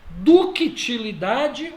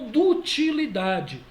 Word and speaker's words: ductilidade: Gente, ductilidade ou dutilidade, tanto faz, tá? Tem gente que pronuncia sem esse C mudo aqui, dá na mesma.